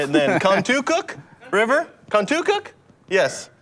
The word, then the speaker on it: Contoocook: Contoocook River? Contoocook? Yes. Say it fast. Contoocook.